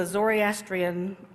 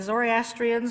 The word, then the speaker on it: Zoroastrian: symbols come from the zoryastrian zoryastrianism which I think is a very funny sounding name and somehow I'd always been putting in an extra syllable in that word okay did anybody watch